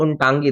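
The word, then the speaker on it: Ntangki: तो यहाँ पर आपको नजर आएगा उन टांकी राष्ट्रीय उद्यान। यानी कि अब देखो मैंने उन बोला है, मतलब वो नहीं है, प्रोनाउंसिएशन में इसको उनटांगी।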